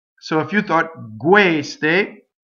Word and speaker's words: queste: Queste, queste. So all of these words, questo, quella, they're closed E's on the stress.